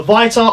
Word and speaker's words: Vita: I have the PSP, I have the Viter. I pronounce it Vita.